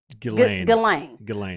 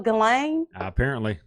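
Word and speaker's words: Ghislaine: why do you say you say her name um delane so they had to go through g-h-i-s-l-a-i-n-e to set to spell galang okay all right she's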